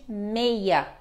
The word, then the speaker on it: meia: tenham também escutado que o seis às vezes é pronunciado com som de meia meia é quando que é utilizado como meia na fala somente na fala números de telefone super